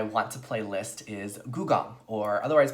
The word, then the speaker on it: Gugong: Okay, so the number 5 game on my want to play list is Gugong, or otherwise pronounced Gugong, as one would say in Mandarin.